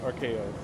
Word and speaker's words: Archaoi: It's supposed to be pronounced Archaeos. Archaeois? Yeah, I alright. used a corruption of story art. Oh like- no. Oh no. Oh no. Yeah, I used a corruption of arc with chaos.